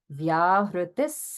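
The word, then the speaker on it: व्याहृतिः: And this visarga will be pronounced as a sa because of the following sa in Sandhya. So it becomes Vyahritis Sandhya.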